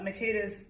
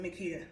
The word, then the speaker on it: Makeda: in front of uh makeda's cookies now i pronounced my name makeda some people pronounce it mikita okay um i say